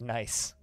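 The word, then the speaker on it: gneiss: type of stone um it's just pronounced nice most things in df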